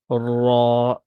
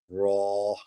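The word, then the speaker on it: راء: And then we have ra, Raw. ra. Yeah. And this is a heavy Do I, letter. do I roll the R like a raw or no? Not really.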